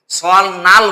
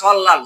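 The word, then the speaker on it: 설날: সল নাল বলবো না, সল লাল।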